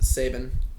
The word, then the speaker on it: Saban: donkeys Alabama head coach Nick Saban and that's pronounced Saban yeah Jesus Christ yeah because they would play